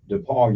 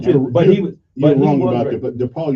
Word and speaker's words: DePaul: no DePaul who I I look I pronounce all of my consonants I left it is with vowels de Paul d e d e p a Google it I asked d-e-p-a-u-l pronounce my words very carefully Paul right I did not leave off never heard of it I know you haven't d-a-p-a-w Depot DePaul University Kevin just say you stepped